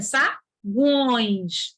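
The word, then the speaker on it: saguões: A gente não fala sagões, é sagões, gões. O U é pronunciado.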